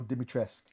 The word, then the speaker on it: Dimitrescu: You don't pronounce the U. It's very French. You just go Dimitrescu.